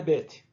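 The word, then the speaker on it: בית: Com ponto é a nossa letra B. Sem ponto é a nossa letra V. Então, quando tiver o ponto, pronuncia B. Sem ponto, V. E o nome é Bet.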